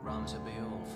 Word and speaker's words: Ramza: The heretic, Ramza. Oh, I was pronouncing that right, too.